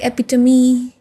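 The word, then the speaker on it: epitome: ई sound नहीं होता but when there are some words like एपिटमी right there it is pronounced हम तो वो भी चीजें ध्यान रखनी पड़ती है।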